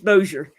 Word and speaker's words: Bossier: Just many people say, I still don't know how to pronounce that. It's Bossier.